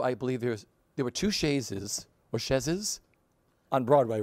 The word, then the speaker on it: chaise: So I believe there were two chaises on Broadway, right?